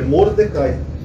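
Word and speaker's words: מרדכי: esse tio chamado mardoqueu M em hebraico é Mordecai que se escreve assim ou tentar pegar aqui aqui n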